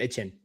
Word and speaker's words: Etienne: But they say that you're supposed to pronounce their name Etienne.